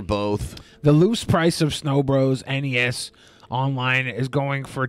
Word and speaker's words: Snow Bros: Did you say the game was called Snow Bros or Snow Brothers? Snow Bros. It's spelled S-N-O-B-R-O-S.